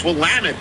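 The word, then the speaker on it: Willamette: I heard a group of JMU fans debating how to pronounce Wamtt, at which point I I pronounce it's Wamut.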